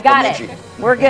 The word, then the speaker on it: Bemidji: Yeah, I wanted to pronounce Bemidji.